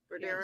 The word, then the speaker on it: Bodero: You said that Anthony Bodero, and am I pronouncing that right? Bodero? Yes.